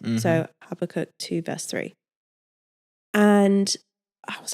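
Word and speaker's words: Habakkuk: She's also Christian and she referenced this scripture um habacook. Is it Habacook? Right. Never heard of this book before, right?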